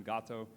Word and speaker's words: Gato: Now, Google at DeepMind, they actually currently have a technology, it's called gato or gato, or however you want to pronounce it. I use the Spanish term gato, G-A-T-O, and that actually